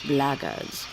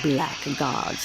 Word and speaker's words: blackguards: If you're another one of those blackguards, And that's the way to pronounce it, not black gods like that thug insisted it was.